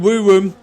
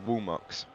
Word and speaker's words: Woomux: We've got Kevin Cal trying to defend from Crimson and Woo Woo. But that reminds me that TTV isn't pronounced Woo Woo. It's actually a really weird name to pronounce. It's pronounced Woomux. Woomux. Really weirdly.